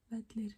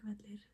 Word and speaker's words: Vellir: I think like we thought, just try to imagine that you're saying like, you're trying to say the TH sound. Think Vellir, think Vellir. And again, you have to pronounce, or you have to practice that sound. I guess like a way to do it is just imagine that like you put your tongue like between your front teeth and you are pushing